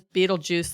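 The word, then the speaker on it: Betelgeuse: I was bothered that the movie is called Beetlejuice and it's spelled beet Beetle Juice but the guy's name is Beetle juu like the star yeah so Beetle GE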